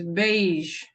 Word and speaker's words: beige: We call this color is beige. Like this. We say it like this, beige.